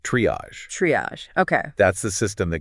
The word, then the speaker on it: triage: It's pronounced triage. Triage.